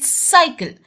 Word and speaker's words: cycle: CYCLE इज साइकिल, क्योंकि सी के बाद वाई आया है।